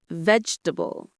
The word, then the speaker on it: vegetable: And pronunciation check: vegetable.